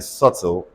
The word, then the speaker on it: subtle: B is silent in subtle.